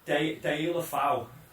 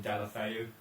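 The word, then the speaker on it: Deulofeu: Yeah, well, Delafeu is how Martinez says to say it, but I think the general pronunciation has just been Delafeu, as you know, that's what they seem to use.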